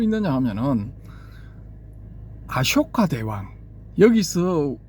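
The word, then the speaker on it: अशोक: 초기불교 전문가라는 분들이 아까 아속가 이렇게 발람을 하거든요. 그 이게 이제 빨 빨리식 발음이랍니다. 아까 근데 앞부분이 쇼인데 그걸 어떻게 소로 소로 바람을 해야 되죠.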